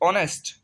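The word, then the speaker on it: honest: आवर, एच जो है silent हो गया। दूसरा है ऑनेस्ट, ऑनेस्ट ईमानदार।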